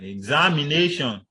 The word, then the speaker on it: examination: So it goes for words like examination. You know, the stress should be on the A and not on all of the syllables.